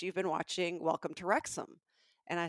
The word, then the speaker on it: Wrexham: So Wrexham, Wrexham spelled Wrexham, is Oh, actually a town in Wales. I would have And totally failed that spelling bee yes, question. Oh, it doesn't necessarily, it's not spelled like it sounds.